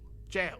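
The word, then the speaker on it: gaol: Next week, I need to send someone across town to Claymore Goal. Jail. I think it's technically pronounced jail.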